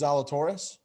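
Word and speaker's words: Zalatoris: his name will zalatore how do you pronounce his last name i think it's zalatorius faldo made a great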